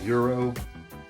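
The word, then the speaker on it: gyro: delicious beef and lamb Euro I think that's how they told me to pronounce g y r o I used to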